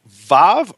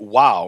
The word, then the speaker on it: Vav: And so the question then becomes, is the sixth letter of the Hebrew alphabet Vav or is it Wow?